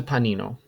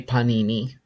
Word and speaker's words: panino: here is a Panino it is not a panini um Panini I've I've heard very very use very very much so Panini is the plural form of Panino Panino is the singular form and that is the correct spelling Panino sandwich next we have